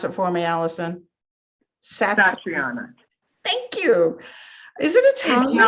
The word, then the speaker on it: Satriana: Pronounce it for me, Alison. Satriana.